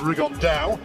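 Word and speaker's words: Rigondeaux: T's talked about fighting riondo or as he's correctly pronounced with the uh Spanish accent rig On Da and two absent Geniuses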